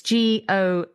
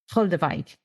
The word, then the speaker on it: Goldewijk: to say this because this is important, it's Goldewijk, Goldewijk.